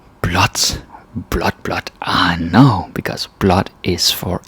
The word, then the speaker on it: blåt: So you say blot. And yeah, the pronunciation changes from blå to blah, and like blah. That sounds funny, but it becomes blot.